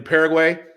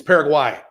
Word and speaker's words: Paraguay: They won't get mad if you call it Qatar, like when you mispronounce, like in Paraguay. I just did it. It's Paraguay.